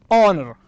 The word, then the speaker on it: honor: The first one is honor. Honor. Okay, the word is honor. So the first letter H is actually silent, is not pronounced.